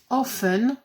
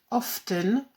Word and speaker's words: often: Alors en anglais, ces adverbes sont never, rarely, sometimes, often, ou bien on peut dire aussi often, on prononce ou pas le T.